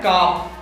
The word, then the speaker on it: calf: चूंकि यहाँ F से पहले L आ रहा है, इसीलिए हम इसे काल सुना पढ़ के काफ पढ़ते हैं।